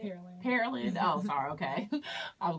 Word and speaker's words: Pearland: Pearland.